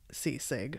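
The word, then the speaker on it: ceasg: get three wishes if the kidnapped sea seg or seasig oh my gosh that's like I'm trying to say seasick sorry it's spelled c-e-a-s-g so that's one just making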